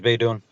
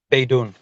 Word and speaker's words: Beydoun: His last name is Beydoun. Okay, so spell his first name for me. Nabil. Okay, his last name, spell it for me, please.